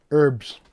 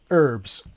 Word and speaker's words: herb: Why do Americans say herbs when it's clearly got an H in the front? It's a herb, not an herb. Herb as in her.